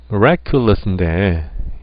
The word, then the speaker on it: miraculous: 네, miraculous인데 이걸 보시면은 액센트가 이음절에 있습니다.